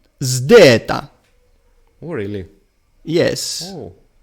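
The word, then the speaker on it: ζῆτα: Now, the first element is like the English word zone, but it must be combined with the D of dental. So it is zd, zdeta. That's the pronunciation.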